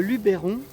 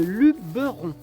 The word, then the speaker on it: Luberon: Alors déjà j'ai appris que on ne disait pas le Luberon mais le Luberon. Voilà. Pas comme je l'ai pu l'écrire avec un accent où j'ai pu le prononcer dans mes vidéos.